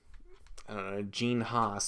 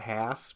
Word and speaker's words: Haas: call them in Formula One the Haas cars gene Haas that's how you pronounce his name I've never understood why the the f1 commentators call it Hass because it's not pronounced TAS it's pronounced Haas but anyway never mind that anyway back to